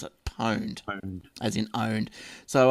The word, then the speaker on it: pwned: of three that's right just a correction on porned it's a new word for owned and pronounced the sameed just like porn to own